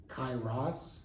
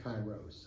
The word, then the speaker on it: Kairos: It's Kairos and Kairos. I've heard two different enunciations, but What's the southern pronunciation? I'm southern. Cairo. Okay, I'm southern. I'm South Texas, so I'm the Cairo, South Texas version.